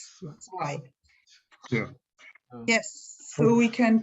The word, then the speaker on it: zwei: And then Z as in zwei sounds like TS. It's not Z, it's zwei.